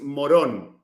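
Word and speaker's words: Morón: The name is so funny because my city is, the pronunciation is Moron, but it writes Moron, like moron.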